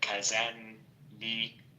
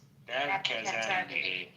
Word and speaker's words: Kazanli: His name isn't Kazanli, it's Kazanli.